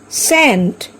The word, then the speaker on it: scent: Science, scent. Here also C is silent.